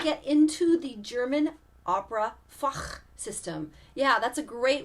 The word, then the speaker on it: Fach: into the German Opera foch system yeah that's a great word it's spelled f-a-c-h and it rhymes with Bach and yeah there's lots